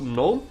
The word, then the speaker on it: gnome: i think it i you don't pronounce the g on gnome it comes with a mix of gnome and the i3 window